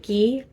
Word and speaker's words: gi: feed off of the I believe it's not pronounced cheese like ghee so the spiritual energy